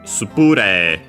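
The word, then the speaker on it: スプレー: Because spray in English would be on the rei. Yeah, no, in Japanese it's on the pu. Spure.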